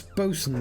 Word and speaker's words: boatswain: my time okay that's boson that's pronounced boson okay I've heard the word boats a lot and I've seen boatswain written down did not realize it was pronounced Boson how about ship surgeon